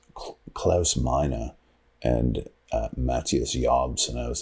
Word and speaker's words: Jabs: His name is pronounced Jobs. Jobs. So not Jabs. Well, see, I called him Jabs all the way through high school, but you know who set me straight on that?